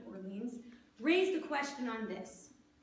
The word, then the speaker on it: Orleans: I know this is not the French pronunciation of Orleans, raised a question on this.